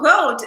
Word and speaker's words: Rode: Jacques Lou, you don't pronounce the Rode. Yes, I'm sorry, right? So is it road? Just do you not say E? Yeah, just road, right? Yeah, well, no one pronounced Tchaikovsky correctly in Russian, so I guess. Thanks, road, it's road.